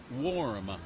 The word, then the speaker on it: warm: word incorrectly warm see I pronounce it like Farm war war or arm War kind of warm in here but I'm told I should stop pronouncing it I should uh I should I should be pronouncing it like swarm yes with more of the o sound yes I can't hear